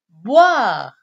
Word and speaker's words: boire: Le troisième verbe, c'est le verbe boire. Boire, qui se termine avec R-E. R-E, qui se prononce re.